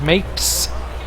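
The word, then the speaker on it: Mapes: be that surprised here's mes rhymes with grapes B makes an infield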